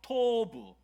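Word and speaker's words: טוב: 토브. 발음이 너무 좋으세요.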